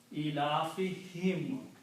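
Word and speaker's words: إِيلَافِهِمْ: So it's pronounced as him, not whom. Ilafihim. Okay. Even though originally the word is whom, but for tajweed easiness, speaking for this pronunciation, we just pronounce this as also a kasra. Separately, him is not a word in Arabic, it's whom only. But in the pronunciation, sound changes only.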